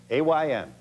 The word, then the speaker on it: Ayn: she was an sorry a rhymes with pine Ayn Ein Rand and she